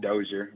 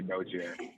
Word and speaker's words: Dozier: pronounce your last name both but i pronounce it dozier but people do say doji yeah they're the fancy way we fancy okay i